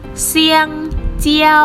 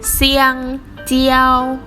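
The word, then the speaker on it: 香蕉: คำ นี้ กล้วย หอม กล้วย หอม ภาษา จีน อ่าน ว่า เสี่ยง เจียว เซียงเจียว ๆ อีก รอบ นึง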